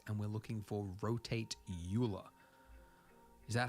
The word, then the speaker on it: Euler: so you realize I'm going with Eula it makes more sense to me it's got an E and A U and an l and an ER you're no Euler Euler all right so we